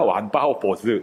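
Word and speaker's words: 万发拨子: 것들이 있는데 아까 왕발 만발 발작 유역이라고 했잖아요 원래는 왕팔 발작이죠 왕팔 발자유적인데 지금은 만발 발작이죠 우리말로 읽으면 근데 중국말로 그러면 둘 다 완파오보스 이렇게 발음을 하는 유적입니다 한자가 다른데 바로 비슷합니다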